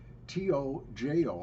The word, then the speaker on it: Tojo: made for children and one of them is t-o-j-o I pronounce is pronounced Tojo and that's a good